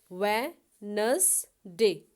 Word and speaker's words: Wednesday: Okay, इसकी spelling देखें आप, WEDY, इसमें D साइलेंट आ जाएगा, NES नस, DAY डे। इसके आप 3 पोर्शंस में करके इसको आप याद करेंगे। वेडनेसडे, WEDNESDAY, वेडनेसडे।